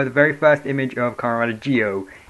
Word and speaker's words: Zi-O: The very first image of Kamen Geo. It is pronounced Geo. It is spelled Zio.